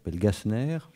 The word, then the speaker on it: Gasner: ami qui va disparaître gasner on prononce comme ça oui vraiment voilà et la situation et